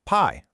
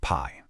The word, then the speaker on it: pai: Notice how that i and the e just blend super smoothly into a single syllable.